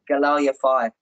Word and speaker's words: Galal Yafai: Yeah, Galal Yafai.